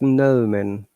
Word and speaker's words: gnomon: So it's gnomon.